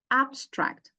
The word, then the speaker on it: abstract: don't actually say AB we do not pronounce the b sound as is in its voiced um form rather we pronounce it abstract why because it occurs